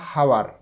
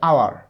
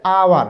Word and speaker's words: hour: এরপর আরেকটা ওয়ার্ড দেখো, এখানে HOUR, এটা কিন্তু আমরা বলি না হাওয়ার, এটা হাওয়ার উচ্চারণ হয় না, এটা হবে আওয়ার, আওয়ার মানে ঘন্টা। তাহলে আওয়ার, এইচটা সাইলেন্ট, যেহেতু এইচটা